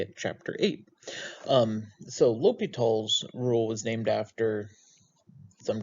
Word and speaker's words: L'Hôpital: it's the hospital's rule it is still pronounced l'hopital though and so what is